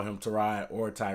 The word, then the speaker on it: Tyrod: like everybody says and come to find out to ride til his real name is to ride it's not tie right even though I call him t-mobile they just started calling mr.